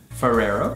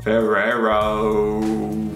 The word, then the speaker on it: Ferrero: Ferrero. Ferrero. Very, very famous here as well. Nutella. Nutella brand. We pronounce it Ferrero.